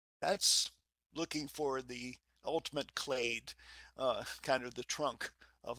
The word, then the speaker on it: clade: next slide I like this word clade rhymes with blade it's um I don't